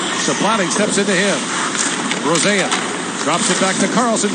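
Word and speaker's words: Rosén: buffalo draft pick and he's asked for the traditional Swedish pronunciation so he's not Isaac Rosen he's he's like rosea when you're back with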